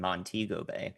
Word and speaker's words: Montego Bay: So on the north side, in particular in Montego Bay, which is how you pronounce that, the storm surge will impact all